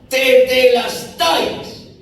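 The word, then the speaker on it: τετέλεσται: Y esa palabra, terminado está, consumado es, en su original, se pronuncia de la siguiente manera: tetelestais.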